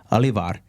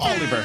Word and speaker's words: Oliver: better person to talk about leadership is olivar that we have here with us today did I pronounce it right Oliver Oliver so close but he's here with us